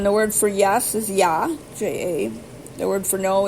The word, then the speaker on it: ja: Hadet is spelled H-A, first word, second word, D-E-T. Then the word for yes is ja, J-A.